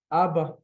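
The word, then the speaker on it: אבא: Second word, Abba.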